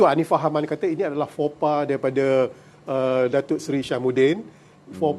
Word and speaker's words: faux pas: False spec. Okey. Tapi sebenarnya itu adalah bahasa Perancis. Oh. Saya cuba Google dia, tengok sebutan betul, faux pas. Faux pas. Okey. Itu bahasa Perancis lah.